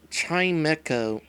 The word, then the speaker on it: Chimecho: didn't think so so keeper says it's actually pronounced chime echo i can believe that chime echo seems lonely since there's nobody around darn it